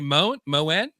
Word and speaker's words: Moen: I think I pronounced that right. Moan, just like Moen.